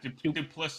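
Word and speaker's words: Du Plessis: I do think the next guy that he's going to fight is how do you pronounce his name? Duplessis? The South African guy? Yeah, Duplessis, yeah.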